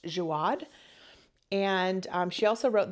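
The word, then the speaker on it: Jaouad: I think it's pronounced Jiad.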